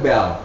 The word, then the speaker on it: belle: Prancis artinya eh sebutannya b b jadi tulisannya bel Tapi bacanya B jadi think eh kok